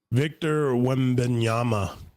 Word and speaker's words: Victor Wembanyama: Oh yeah, I'm gonna have to learn how to pronounce this guy's names because he's gonna be all over the place. Victor Wembanyama.